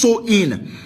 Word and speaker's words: Samhain: ancient celtic festival of samhain pronounced so in the celts who lived